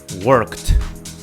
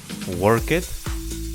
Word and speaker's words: worked: word is work work how do you pronounce this word in the past of course is worked worked it is not work it it's not worked it's worked worked so you know that